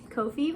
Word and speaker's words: Ko-fi: the link over here Kofi rhymes with no fee give me some mint